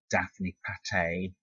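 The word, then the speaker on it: Daphne Patai: Daphne Pate and, that's how you pronounce it, Donna Laflamboy's.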